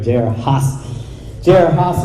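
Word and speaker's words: J.R. Haas: his name is mr j.r haas am i pronouncing that that's right say one more time there we go jer haas is the director of abolish abortion texas he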